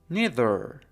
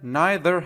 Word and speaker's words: neither: Neither neither neither. این کلمه به صورت neither هم ممکنه تلفظ بشه که هر دو تلفظ درسته. neither یا neither.